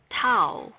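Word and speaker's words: תו: English letter s next towel towel towel this consonant sounds like the English letter T now let's familiarize ourselves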